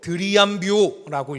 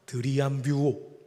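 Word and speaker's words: θριαμβεύω: 여기서 우리가 조금 더 딥하게 들어가서 한 가지 알아야 되는데, 여기서 승리라는 단어는 헬라어로 드리암뷰오라고 읽습니다. 한번 따라해 주시겠습니까? 드리암뷰오.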